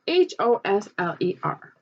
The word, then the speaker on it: Hosler: And it's spelled H-O-S-L-E-R, Hosler.